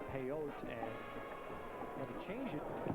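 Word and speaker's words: Pellot: His name was Pelé, Victor Pelé, a French origin name, and pronounced it Peyote, and had to change it, anglicize it when he came over to play.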